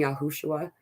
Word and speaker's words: Yahushua: lot of individuals though what I've just been told is is yahuwah and yahushua is the pronunciation though I really feel